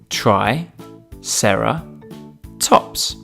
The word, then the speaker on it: triceratops: do we have with us today triceratops try sarah tops can you say it with me try sarah tops let's learn all about triceratops triceratops was found